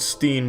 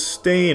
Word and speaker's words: Berenstain: Everyone every everyone every they all want to pronounce it Steen but it's Stain. Ever since I was a kid, they call me Steen and it's Stain though.